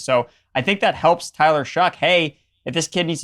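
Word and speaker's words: Tyler Shough: like Tyler Shu you mean Showtime no no Tyler shuck that's how you pronounce his name and you were talking to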